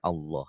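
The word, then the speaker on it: الله: Nah, Maci, cara membaca lafad Allah itu ada 2, Maci. Satu tabkhim, ini tebel. Dibacanya tebal. Tebal bunyi O. Ya, seperti bunyi O. Kemudian yang tarkik ini tipis. Seperti Allah, lillah, tipis. Ya, nih.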